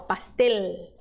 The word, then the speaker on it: pastel: U mas em espanhol letra L é sempre letra L tá por exemplo pastel a gente termina esse L final como se fosse um U em espanhol é L normal pastel balde balde é é